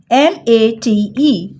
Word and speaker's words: mate: Mate. It's a long vowel.